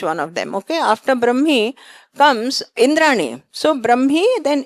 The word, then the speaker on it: Brahmi: Brahmi is the right pronunciation.